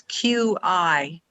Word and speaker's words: Qigong: Can you spell that? It's okay. It's an ancient spelling, so it's Qigong, and it's Chinese medicine based, like acupuncture.